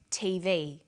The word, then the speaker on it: TV: Notice that each letter in the abbreviation is pronounced separately, but the last letter is pronounced more strongly because it carries the primary stress.